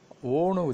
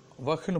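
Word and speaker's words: वह: வஹ் அப்படிங்கிறது அவன். இதை நம்ம உச்சரிக்கும் போது ஓன்னு உச்சரிக்கலாம். வஹ் ஓ, ஓ வஹ்னு படிக்க வேண்டாம், வஹ் வேண்டாம்.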